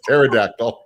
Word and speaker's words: pterodactyl: Why can't you hear pterodactyl go to the bathroom? Because the P is silent. It's pterodactyl.